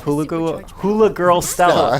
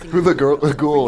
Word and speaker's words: Hula Ghoul: You have your exploration, you have your puzzle solving, and you have Hula Girl Stella. That would have been funnier if I could say her name right. Hula Ghoul is the Hula Ghoul.